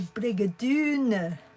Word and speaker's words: Brigadoon: A Brigadoon. Because it rhymes with June.